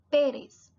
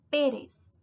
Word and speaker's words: Pérez: ser óscar óscar pérez la tilde también indica que es una sílaba tónica entonces va a pronunciarla pérez reyes va a ser más y más débil o fracaso portugués más débil entonces va a ser pérez pérez q quito r ramón